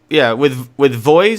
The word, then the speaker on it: VOEZ: But with Voice, is that how you say it? Voice or Voez, VOEZ? Voz. I think it's Voz or Voz. something. Yeah, Voz.